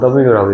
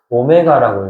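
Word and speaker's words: ω: 보통은 w라고 읽죠. 근데 방정식에서는 방정식에서는 대부분의 해와 관련된 내용들은 알파, 베타 감마 다 뭐예요? 이게 뭐 델타 이런 것도 있어. 다 뭐예요? 입실론도 나오고 델타도 나오고 막 많아. 그거 다 무슨 문자야? 알파벳 아니고 그리스 문자야. 방정식의 해와 관련된 문자들은 대부분이 xyz 이런 거를 제외하면 다 그리스 문자잖아. 그래서 이거는 그리스 문자에서 오메가라고 읽어요.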